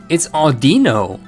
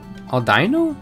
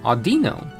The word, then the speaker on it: Audino: It's Audino. Aldino? Audino.